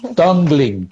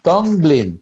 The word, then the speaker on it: Tonglen: Tonglen, Tonglen, Tonglen, Tonglen, Tong de lengua, pero eso es una palabra no inglesa.